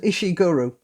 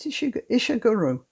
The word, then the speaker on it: Ishiguro: Look, there's a book called The Remains of the Day by a writer called Ishiguro. It caused, was it Ishiguro? I think that's how it's pronounced.